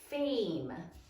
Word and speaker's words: fame: Sound it out. A, silent final E.